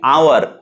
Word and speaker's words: hour: ফর an example, আমি যদি বলি আওয়ার, এটা এইচ দিয়ে শুরু হয়, HOUR, এইচ দিয়ে শুরু হয়, কিন্তু যেহেতু আওয়ারের উচ্চারণটা ভাওয়াল সাউন্ড দিয়ে শুরু হয়, আ দিয়ে শুরু হয়, এই জন্য ওর আগে এন বসে।